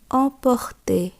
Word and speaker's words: emporter: ও এম দিয়ে উদাহরণ আমরা দেখব emporter, emporter, অর্থাৎ নেওয়া বা নিয়ে যাওয়া। এক্ষেত্রেও দেখুন বন্ধুরা, শেষে অ এর আছে, উচ্চারণ হয়েছে তে, emporter।